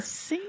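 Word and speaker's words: signor: Senor, but it's spelled s i g n o r. So, not like Senor, it's like it's like French. I guess the French version, but they all call him Senor.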